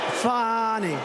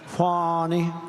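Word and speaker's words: Fani: fny well it's now even though it's I believe it's spelled f a ni I to my way of thinking that's Fanny but when she became the district attorney I think she put a little emphasis on the U fny so corrupt fonnie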